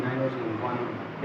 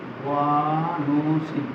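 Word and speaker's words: guanosine: Gynoecium गनोसियन गोसिन गनोसिन एक second रुकना सुन के साथ गनोसिन ग्वानो से होता है। ग्वानो सॉरी गलती हो रहा है। उच्चारण गलत हो गया। ग्वानो गलत लिखा गया है। ग्वानो ग्वानोसिन ये ग्वानो सीन ब्रैकेट में लिख दे।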